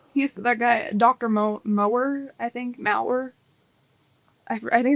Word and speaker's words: Mauer: Mower, I think. Mauer. I think it's Dr. Mauer is how his name is pronounced.